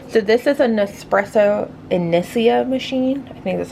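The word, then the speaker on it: Inissia: So if you're wondering what I use to make my like homemade lattes, so this is a Nespresso Inicia machine.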